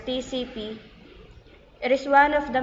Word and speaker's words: TCP: for transmission control protocol and pronounced as separate letters TCP it is one of